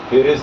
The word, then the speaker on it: Pharez: फिरिस।